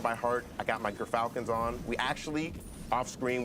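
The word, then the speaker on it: Gyrfalcon's: I got my Gerfalcons on. We actually, off screen, we're figuring out how it's pronounced. But Gerfalcons, everyone, so anyone who mispronounces it, that's how you say it.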